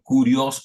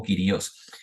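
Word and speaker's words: κύριος: En el griego se utiliza un término que se pronuncia como kurios o kyrios.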